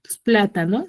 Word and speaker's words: plátano: pla pla Tano cierto entonces en la pla si tiene la pla est está última la sílaba última es no ta es penúltima y pla es antepenúltima Entonces esta qué va a ser una palabra esdrújula cierto o no cierto